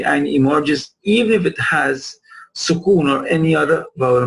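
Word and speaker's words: ح: Look how the epiglottis move backwards for the ha. It is not as strong as for the ayn.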